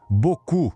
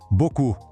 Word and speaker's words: beaucoup: Beaucoup, que quer dizer muito. Tá vendo que termina com um P ali no final? Pois é, mas ele é completamente mudo. A pronúncia para no som do U. Beaucoup.